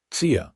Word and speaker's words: Tsia: The first sound was softer, almost like a sigh. "Tsia," Samuel tried again.